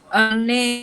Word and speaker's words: अन्ये: अन्ये অন্যে, অন্যে, ঠিক।